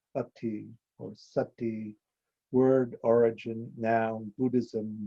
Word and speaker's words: sati: Buddhism, what we call sati, Pali, Sanskrit, smrti, pronounced ati or sati, word origin, noun, Buddhism, 1, mindfulness or awareness, 2, to remember, to recollect, to bear in mind, aka conditioning.